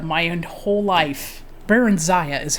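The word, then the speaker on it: Barenziah: There's this one character called um Baren Baronzia and I have pronounced it Barenzia my whole life. Baronza is how you say your name actually.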